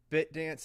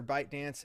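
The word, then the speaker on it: ByteDance: here not very accurate bit dance or bite dance is uh because it's pronounced both ways he calls it bite dance a lot of people call it bit dance um the thing is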